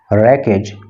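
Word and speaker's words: wreckage: the aircraft रैकेज, देखिए डब्ल्यू यहाँ पे साइलेंट रहता है और रैकेज है, रैकेज का मतलब होता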